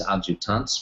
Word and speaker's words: adjutants: If you look at the order, you will see that the sergeants and the appropriate French military equivalent for women is adjutants, rhymes with debutantes.